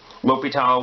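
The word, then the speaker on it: L'Hôpital: L'Hopital was a person, so you would say his name L'Hopital.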